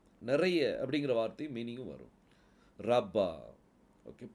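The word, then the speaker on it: רבה: அப்படிங்கிற வார்த்தையும் மீனிங்கும் வரும் ரப்பா ஓகே புள்ளி வைத்ததுனால அது ப புள்ளி வைக்கலன்னா ரவான்னு ஆயிரும் அதனால இதை எப்படி உச்சரிக்கணும் ரப்பா அப்படின்னு சொல்லி உச்சரிக்கணும் அடுத்த ஒரு ஒரு எக்ஸாம்பிள்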